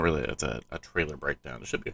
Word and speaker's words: Trail: Dom try to try trail trail it's not trial I can mispronounced it